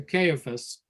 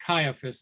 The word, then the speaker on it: Caiaphas: I've also heard this word pronounced Caiaphas. I'm not sure which is the more common pronunciation, Caiaphas or Caiaphas. As soon as you said Caiaphas, I thought Caiaphas. Yes, I think Caiaphas is what I most likely would pronounce it, but I'm just looking at the pronunciation guide in this particular Bible, and it says Caiaphas. Perhaps that's a British pronunciation.